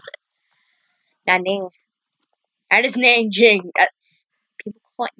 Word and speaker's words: Nanjing: That's not how you pronounce it. Nanjing. That is Nanjing. What Nanking?